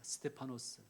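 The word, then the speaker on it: Στέφανος: 스테파노스, 빌립, 필리포스, 브로고로, 프로코로스, 니가노르, 니카노르, 디몬, 티몬, 바메나, 파르메나스, 니골라, 니콜라오스.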